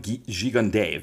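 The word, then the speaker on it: Gigandet: Cam I found out his last name is pronounced xiande cam G jund you may remember him as the the baddy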